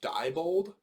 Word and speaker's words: Diebold: just about to ask is your last name pronounced diebold yes that's